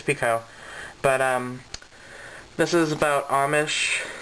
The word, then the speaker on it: Picoult: Is it Pico or Piku? I think it's Pico.